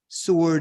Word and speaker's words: sword: Sword, S-W-O-R-D. And those letters used to be pronounced, right?